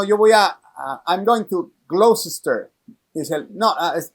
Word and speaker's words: Gloucester: El lugar se escribe Gloucester, Gloucester, así se escribe, pero se pronuncia Gloucester, Gloucester.